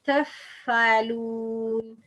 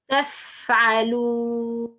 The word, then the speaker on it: تفعلون: The front two upper incisors touching the bottom lip lightly. Lightly, that means تفعلون تفعلون. No, you should pronounce strong. تفعلون تفعلون.